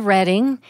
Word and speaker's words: Reading: the way it looks you think that's the way it's pronounced no it's Reading Pennsylvania named after reading England the birthplace of William Penn and when I was